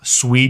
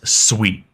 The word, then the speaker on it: Sui: And first off, how's it pronounced? It is SUI. It is not SUI. I've been corrected multiple times. So if you want to be on the better half of the SUI community, just pronounce it SUI.